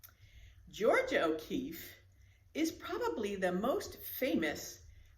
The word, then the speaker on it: O'Keeffe: focus on georgia o'keeffe and her last name is spelled o apostrophe k-e-e-f-f-e look at that three e's and two f's georgia o'keeffe but before we get